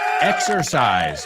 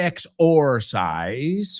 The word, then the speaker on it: exercise: Exercise. Yeah, we don't say exorcise, right? So la O es como una E en esa segunda palabra.